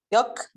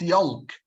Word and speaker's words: yolk: How to pronounce this word, which means Safar al-Bayt? Yuck. Yuck. So it's not yolk.